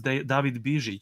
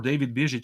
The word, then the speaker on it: David: the way you told you said my name was david uh or david which is absolutely correct pronunciation of my name in serbian which not many people know or know how to to say so thank you for